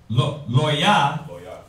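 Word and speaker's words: לוי: How do you say Levi in Hebrew? Loya. Loya, which means what?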